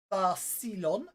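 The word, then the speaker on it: Thassilon: The ancient empire of Thassalon, pronounced Tharsilon, existed in the waning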